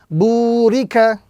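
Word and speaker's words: بُورِكَ: So this word will be pronounced correctly, burika, with the prolongation on the first letter because of the waw madda, the waw sakin, before which is a dhamma.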